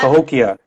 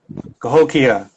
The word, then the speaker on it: Cahokia: another live today's page i hope i'm pronouncing it right here yeah tokyo okay i was close it's close cahokia i love it this